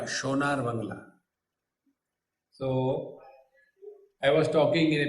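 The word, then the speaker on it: সোনার বাংলা: You know, in Bengali, sa is pronounced as sh. They don't say Sonali, they say Shonali. Sonar Bangla, Shonar Bangla.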